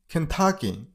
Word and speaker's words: Kentucky: Kansas next number 17 Kentucky the stress on the middle syllable I mean on t level Kentucky that's it next number